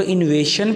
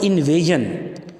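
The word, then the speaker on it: invasion: वे को foreign इनवेजन अक्सर बच्चे इसको रॉन्ग प्रोनाउंस करते हैं फॉरेन को फोरिजन पढ़ते हैं और इनवेजन को इवेशन पढ़ते हैं ये दोनों वर्ड्स गलत प्रोनाउंस किए हैं फॉरेन और इनवेजन हुबल वतन का जज्बा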